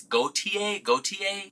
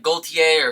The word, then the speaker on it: Gaultier: no matter what, but there is some kind of contention on whether or not you say the L because there's an interview with him on the internet where he pronounces the L in his own name, but I also know that most French speakers don't pronounce the L, so it's like Gaultier